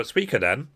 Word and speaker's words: Suikoden: So, Suikoden, I did check, that's how you pronounce it, is a role-playing game series that was created by Yoshitaka Maruyama.